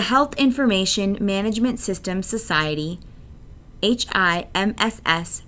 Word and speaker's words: HIMSS: information management system society HIMSS pronounced hims proposed a five stage